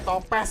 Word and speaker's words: Topaz: Oh udah ada Topaz, bacanya Topaz ya, bukan bisa-bisa tolong ya.